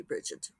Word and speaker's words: Brigid: I think she says Brigid with a hard G. We're going to go with that since it's the theme of this episode. She could be Bridget, but I think it's Brigid Kemmerer.